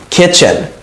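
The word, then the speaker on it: kitchen: কিচেন, রান্নাঘর, কিচেন। দেখেন কিচেন, কিন্তু উচ্চারণটা কি? কিচেন, কিচেন, টিটা উচ্চারণ হয় না।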